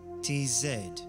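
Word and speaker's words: Tzaddi: that Inspire our communication study is pronounced as t zed which corresponds closest to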